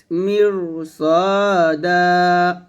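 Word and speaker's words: مِرْصَادًا: মিম র জের মির এখানে রটা মোটো হবে বিকজ র সেখানে ডাইনে জের আসছে ঠিক আছে কিন্তু তারপরে কিন্তু সদ মোটো হরফ আসছে তো মোটো হরফ আসলে সেক্ষেত্রে রটা মোটো হয়ে যায় এটা মনে রাখবেন ইন্না জাহান্নামা কানাত মিরসাদা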